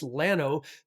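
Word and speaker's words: Llano: Yes, that double L in Texas is pronounced Lano, just like the county seat, Lano, Texas.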